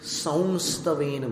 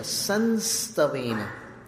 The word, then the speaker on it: संतन: संतति सनि बध दक्षम दक्षिण भारत में संस् वेन को वो लोग सस्तन बोलते कहीं महाराष्ट्र में भी ऐसा उच्चारण होता है सस्तन तो उसको ऐसा उच्चारण ना करके सीधा संतन उच्चारित करना है तत सं स्वेन भव